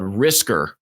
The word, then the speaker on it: risker: going to be called risker right pronounced the same way as whisker and that stands for